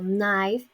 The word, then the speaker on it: knife: In another examples, the initial lows, the letter K before N. For example, knife, no, or nine.